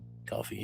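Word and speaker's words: Ko-fi: Coffee is how it's pronounced, I believe. It is pronounced coffee.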